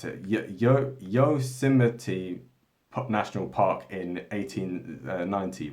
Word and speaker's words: Yosemite: cinema yes yes i don't know how to pronounce it yo yosemite pop national park in 1890 right and so